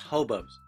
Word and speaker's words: Hoboeaux: is on the left it is pronounced hobos it's exactly the same pronunciation um but but notice